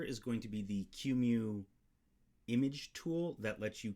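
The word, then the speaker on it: QEMU: the uh the the q mu set i think that's how you pronounce it cumu so i'm going to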